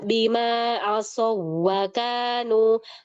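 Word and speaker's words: بما عصوا: Bima asu. Mohon perhatikan jangan bacanya bima as wau. Asu.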